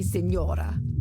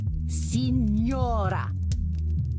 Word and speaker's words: Signora: Then say it properly. Signora. Say it.